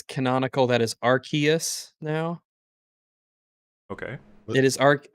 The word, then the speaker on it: Arceus: arc okay yes it's canonically it's archaeas because they they released a book on it yeah it had a how to pronounce it how to say it in the book arceus